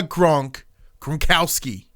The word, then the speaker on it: Gronkowski: So he was here to usher in Rob the Gronkowski. That's how you pronounce it.